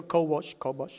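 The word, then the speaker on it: כָּבַשׁ: La palabra en hebreo para gobernar es kabash, se pronuncia kobosh, y significa, léalo ahí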